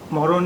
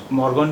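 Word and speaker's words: morgon: अब देखिए मॉर्न में एक अक्षर है गिए, गिए। इसका उच्चारण कई बार नहीं भी किया जाता है। वैसे ये गुड मॉर्न जो शब्द है इसमें आप इसका उच्चारण कर भी सकते हैं, लेकिन ज़्यादातर लोग नहीं करते हैं। तो इसलिए आप इसे गुड मॉर्गन भी कह सकते हैं और गुड मॉर्न भी कहते हैं, लेकिन गुड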